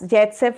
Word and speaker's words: Saytzeff: But as the Saytzeff rule tells us, Zaitsev rule also you pronounce it, tells us that uh